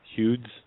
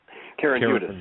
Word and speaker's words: Hudes: Okay, you know, you had, and I hope I do pronounce her name right, Karen Hudes? Karen Hudes, yes.